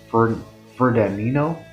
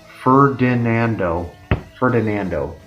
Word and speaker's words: Ferdinando: This band, before Ithaca, it's led by Peter Howell and John Ferdinando. That's not how you pronounce it. Ferdinando.